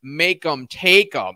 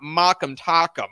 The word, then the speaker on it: Make'em Take'em: And I realize, oh, your name is Make'em Take'em. It's not Mock'em Tock'em. Okay, so I believe that's the correct pronunciation.